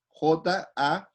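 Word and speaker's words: χαρίζομαι: en el Nuevo Testamento, uno es harizomai, lo voy a deletrear, ¿ya? Lleva tilde en la I, Jarizomai, y literalmente significa dar con gracia, dar con gracia.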